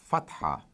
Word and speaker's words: fatha: show the equivalent of A, which is called fatha.